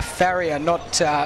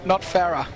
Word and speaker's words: Farrier: Just been informed by a few of the Banks faithful just up here that it is a Farrier, Farrier. Not Farah. So yeah, I'm just getting the pronunciation wrong.